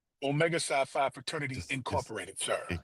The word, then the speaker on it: Omega Psi Phi: How how do you pronounce so I don't say anything disrespectful? Omega Sci-Fi Fraternity Incorporated, sir.